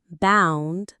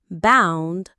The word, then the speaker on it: boundary: The pronunciation is bound-da-ry. It has 3 syllables, bound-da-ry. The stress is on the first part, boundary. It rhymes with foundry, if that helps.